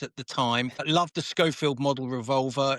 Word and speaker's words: Schofield: Americans actually often mispronounce it to Chafield, but it is in fact Scoffield and named after a Civil War revolver.